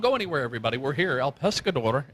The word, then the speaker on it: El Pescador: El Pescador, am I pronouncing that right? Yes, you are.